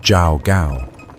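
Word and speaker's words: Zhao Gao: His prime minister Li pronounced Li Su and the chief unic Jao Gao pronounced Jao Gao concealed the emperor's death during the long journey back to the capital before dawn or the plan is ruined.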